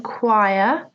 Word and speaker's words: choir: Note the pronunciation, choir.